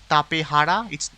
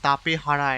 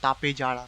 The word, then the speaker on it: Tapejara: Tapehara, it's called Tapehara and not Tapejara because the spelling is actually Spanish, and J is actually pronounced as H in Spanish language.